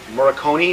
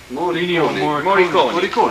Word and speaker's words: Morricone: Morricone, is that how you say his name? Morricone.